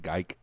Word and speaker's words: Geike: or something no it's so it's GE I see Kay and they all say geek but he he pronounces it geike that kind of makes